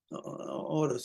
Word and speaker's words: Oros: say it in English, Saint Oros, O-R-O-S. I think that's how you pronounce it in English too.